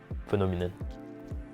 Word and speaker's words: phenomenon: not in my Ramen phenomenon the accent is on no the second syllable so it's not fair nor me no it's phenomenon the fourth word courage